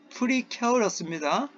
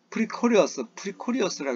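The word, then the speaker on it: precarious: 자, 우크라이나에서 그런 상황은요, 매우 프리케어러스입니다. 프리케어러스 발음을 자꾸 하셔야 돼요. 그래야지 이걸 예전에 어떤 학생은요, 그냥 발음을 안 찾고 프리코리어스라고 이렇게 발음만 하는데 걔네들은 들을 수 있어요. 알아요. 그러나 가능하다면 발음 기호를 보면서 자꾸 연습을 하셔야 합니다. 그래야지 입에서 이게 잘 나와요. 프리케어러스 이렇게 하셔야 됩니다.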